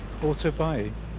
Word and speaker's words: 오토바이: Autobuy. Uh-huh. It's an English word, but we pronounce it that way.